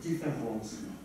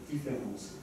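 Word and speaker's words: différance: Both words are in French pronounced identically, and the inaudible difference between them is visible only when they are written.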